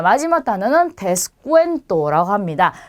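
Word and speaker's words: descuento: 자, 마지막 단어는 데스쿠엔토라고 합니다. 방금 전에 보셨던 이 부분은 꾸로 발음되는 거 기억나시죠?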